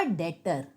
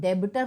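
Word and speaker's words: debtor: ठीक है, मोहन अ डेटर, मैंने कहा था बी साइलेंट होता है, तो डेबिटर नहीं होता, डेटर होता है।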